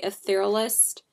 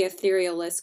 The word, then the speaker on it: Etherealist: is the etherealist concealer I accidentally mispronounced how it's said in my haul video I said like a thorough list I don't know I said it in a really weird way so it's called the etherealist concealer and I'm gonna